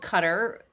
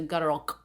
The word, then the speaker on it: Qatar: Arabia and Dubai and I remember the first time I heard it called cutter I thought that sounds like a bug spray but that is closer to their pronunciation which is a gutter cut cutter we don't have that sound in the English language and so we say cutter well unless you're Canadian and they say CER and of course the